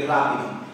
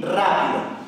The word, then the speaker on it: rápido: Pues aquí tenemos dos ejemplos, matrícula y rápido. Y como podemos ver, la sílaba fuerte o sílaba tónica es la antepenúltima, matrícula y rápido.